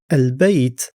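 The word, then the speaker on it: البيت: So, in al bait the lam is pronounced and the first letter ba is a moon letter.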